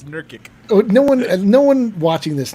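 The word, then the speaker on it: Nurkić: Jokic how to pronounce Jerkic. that. See, it's Nurkic.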